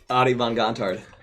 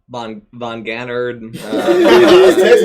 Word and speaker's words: von Gontard: Like, that's how you say it? Adie von Gontard. Von Gontard. Nice. It was, I mean, he nailed it. Hey, when it's spelled, can't tell you how many people butcher it. I can't tell you how many people butcher it. So what do you get? Like, Von Gannard, right every single thing, everything but the right one.